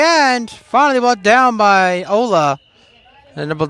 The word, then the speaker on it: Ole: He says his name is Ola. It's spelled O-L-E, like Ole. But he says it's Ola. So we'll call him.